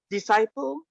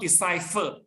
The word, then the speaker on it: disciple: His disciple or decipher, Disciple? Disciple, not decipher. Oh, because the Xuan Zhuang, the video clip you introduced me, the narrator used to pronounce decipher. So I thought I misguide Yukwa already, because Yukwa in the beginning you pronounce as decipher. Kamling, disciple, right? Not decipher.